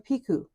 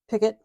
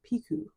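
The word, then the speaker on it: picot: do what's called a piku I used to call it a picket but I learned it's actually a French word and you don't pronounce the T in it so it's called a piku you're going to chain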